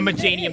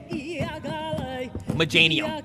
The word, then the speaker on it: Meganium: Yeah, Meganium. That's how Wolfie pronounced it, so that's how I'm pronouncing it now. That's how Wolfie pronounced it. Meganium.